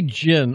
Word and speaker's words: Djinn: autographed and of course the gin is spelled n d-j-i-n-n it's a silent d right that's one of